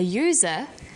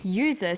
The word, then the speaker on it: user: an umbrella but a user because user sounds like it begins with a Y ah and an only